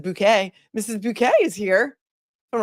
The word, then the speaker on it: Bucket: thank you appreciate you Mrs bucket which I I have found is now is pronounced Mrs bouquet Mrs bouquet is here